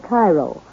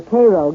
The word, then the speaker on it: Cairo: Oddly enough, though, Illinois is sometimes referred to as Egypt because the fertility of the soil in and around Cairo, or Cairo, giving it the Illinois pronunciation, resembles that of its Egyptian namesake.